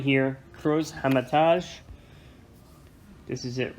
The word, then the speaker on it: Hermitage: This is a Cruz Hermitage. It's actually pronounced Hermitage.